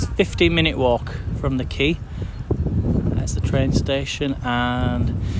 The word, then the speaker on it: Quay: Yeah, it's pronounced quay.